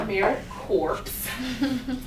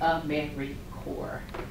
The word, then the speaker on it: AmeriCorps: it is not pronounced american corpse it's pronounced a memory core no s on the end and you'll hear people